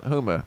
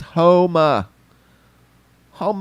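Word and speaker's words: Houma: home homa i'm sorry why do i pronounce that hooma my bad it's home home louisiana somebody there making rounds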